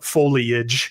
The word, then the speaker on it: foliage: And foliage. I think I'm in the habit of pronouncing it in the minority pronunciation, foliage.